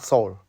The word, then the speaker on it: Saul: travels this is my guide his name is soul s a u l soul is pronounced as Soul so our vehicle start to move slow by